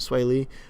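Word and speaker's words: Swae Lee: I liked sway Lee mm-hmm that's how you pronounce it sway Lee I liked a lot of him unlike features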